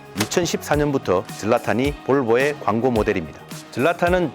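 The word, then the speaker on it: Zlatan: 젤라탄은 지과 히 중간 발음을 하는게 맞다고 현지 출장 갔을 때 현지인이 가르쳐 줬는데요.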